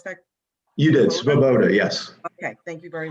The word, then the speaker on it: Svoboda: Did I pronounce that? You did, Svoboda, yes.